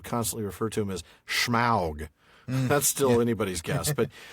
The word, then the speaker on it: Smaug: him I've heard the I have heard Tom Shippy pronounce smog. Right. Yeah. Yeah. And so it must be right. Yeah. And I've concluded that it must be right too.